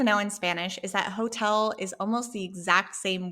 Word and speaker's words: hotel: in Spanish is that hotel is almost the exact same word. It's hotel, it's written the same. We just don't pronounce the H because remember, the H is silent in Spanish.